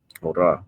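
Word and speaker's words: ὥρα: Okay, which in the Greek is pronounced hora.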